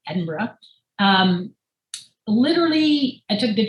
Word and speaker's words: Edinburgh: i gotta make sure i say it right edinburgh um literally i took the train there and